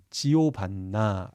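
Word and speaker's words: Giovanna: 이탈리아에서는 요한이 지오반니로 발음된다라는 걸 알겠습니다. 그리고 지오반니를 여성형으로 할 땐 지오반나 이렇게 발음한다는 것도 알아두시면 좋겠습니다.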